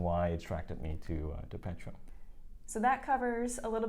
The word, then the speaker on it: Petuum: So the founders took Petuum from Perpetuum. There we go. So that's how you can pronounce the company name, and that's how the company name came about.